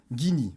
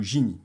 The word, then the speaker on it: Gini: Ou plus couramment, on peut aussi utiliser la mesure du Gini, ou Gini. C'est comme vous voulez, vous pouvez le prononcer des deux manières.